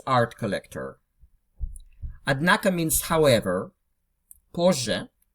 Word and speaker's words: позже: Позже, just notice you pronounce позже, not позже.